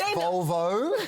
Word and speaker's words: Volvo: Like, It's pronounced Volvo.